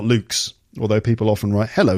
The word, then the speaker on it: Luke: now and then so my name is Luke l u ke pronounced Luke okay people often spell my name luck l u c k which is quite nice but that is not my name and I just thought